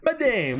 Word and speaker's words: madame: My dear madame, what these spark? Okay, hold on, we're googling this. Do you just pronounce it madam?